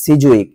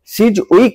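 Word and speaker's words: Sidgwick: definition দেখব সেটা হচ্ছে হেনরি সিজুইক এটা অনেক উচ্চারণ করে হেনরি সিজ উইক নামে দুটোই ঠিক ঠিক আছে ইনার মানে থমাস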